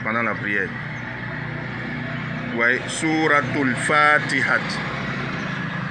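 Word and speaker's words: al-Fatiha: Ouais, sourate al Fatiha. Ici, je mets deux A pour que vous tirez un peu. Sourate al Fatiha.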